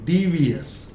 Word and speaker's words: devious: Okay, then है devious, devious, not yes, not devious. It is devious. I-O. ये phonetic transcription में this swa is pronounced as a.